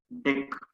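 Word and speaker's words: deque: Usually they are pronouncing this DQ as deck. Okay, better to pronounce it as deck.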